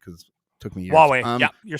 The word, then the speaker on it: Huawei: Huawei, yeah, you're saying it right.